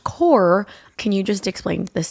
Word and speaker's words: Corps: Why is it spelled corpse, but it's pronounced core?